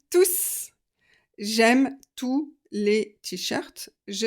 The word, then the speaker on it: tous: que dans ce cas-là quand c'est un pronom et bien on prononce le S vous avez entendu je les aime tous j'aime tous les T-Shirts